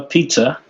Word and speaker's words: Puhse: We have on bass Noah Pizza. I always say pizza. It's closer if I say pizza, right?